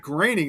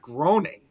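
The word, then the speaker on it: Groening: Then we also said the same thing too with Matt Graining. Everybody of the Simpsons, we thought it was Matt Groaning.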